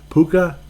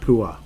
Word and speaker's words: Puka: just it just does puka not Pua and I'm probably mispronouncing it but uh old puka